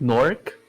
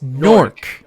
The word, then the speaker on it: Newark: New Jersey yeah and you're just calling it nork not New York Newark not new work no Newark I'm from here and it's pronounced Newark got it no I I keep feeling no